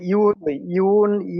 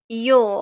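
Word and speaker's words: yo: আপনি জো বলেন, সমস্যা নাই, কিন্তু ইউ বলা যাবে না। ইউ না, ইউ হচ্ছে ইংলিশে ইউ মানে তুমি, কিন্তু স্প্যানিশে কোনো ইউ নাই। হ্যাঁ, স্প্যানিশ আছে ইয়ো অথবা জো, দুই ভাবেই বলা যায়।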